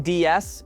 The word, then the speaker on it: DS: The name DS, when spoken in French, sounds like the word for goddess.